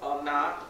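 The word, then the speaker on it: עונה: All right, so marriage in Hebrew is pronounced onah, and that is the Strong's H5772.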